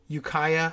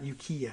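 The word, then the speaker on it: Ukiah: uh Yukaya okay okay this is Yukaya not yukia I don't know got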